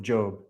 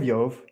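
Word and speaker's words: Iyov: Stop saying book of Job. It's book of Yov.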